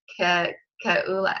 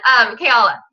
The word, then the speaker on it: Kayala: And like I told Kaylee, Kaula, I can't say her name right now, I just went blank. Sorry, Kayala. Kayala, that's what it is.